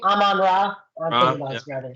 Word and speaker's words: Amon-Ra: Amon-Ra.